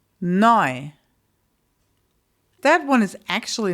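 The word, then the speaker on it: neu: Noi. Noi.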